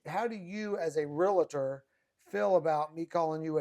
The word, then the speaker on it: realtor: So we need to pronounce it realtor. Realtor.